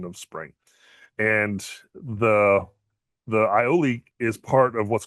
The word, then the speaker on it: aioli: And today's word is ioli. Ioli. The reason why I'm laughing is because I literally just mispronounced it before I started this whole thing.